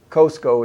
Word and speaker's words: Cusco: coast Co Earth's umbilicus Costco is how the original Quechua Indians pronounced what we call Kuzco which in their language means a flea-bitten dog so I would rather go back to their original pronunciation which is something between